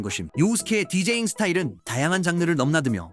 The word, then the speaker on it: 요우스케: 알고 있는 인터넷에 떠도는 요우스케의 서사임. 하지만이 스토리는 실제 내용에 비해 과장된 면이 있음. 첫째로이 남자 이름의 올바른 발음은 요우스케.